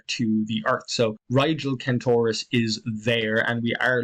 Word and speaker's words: Kentaurus: When it's spelled with a K, I tend to pronounce it Kentaurus.